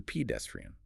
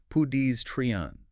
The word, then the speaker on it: pedestrian: How about pedestrian? Sometimes hear pedestrian. Right. It's actually pedestrian. Pedestrian. 4 syllables.